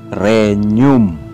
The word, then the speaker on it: regnum: GN. Ito ay binibigkas tulad ng ñ sa Kastila. Tulad ng pinagsamang NY sa Pilipino. Halimbawa, regnum. Ito ay renium.